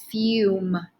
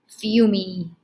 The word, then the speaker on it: fume: what do you do you cross it out right it's fume it's not fumey that's weird right just